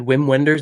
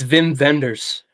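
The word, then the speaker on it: Wim Wenders: It's Whim Wenders is how it's spelled. And once on a video I said Whim Wenders and somebody flamed me in the comments. It's Vim Venders, they told me. So don't don't get that wrong, bro.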